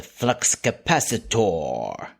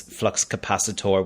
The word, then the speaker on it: flux capacitor: Doc pronounces H pronounces flux capacitor with the stress on the or o the O signed as in for four however in contrast Christopher Lloyd who said it rhymed with diameter and then there's an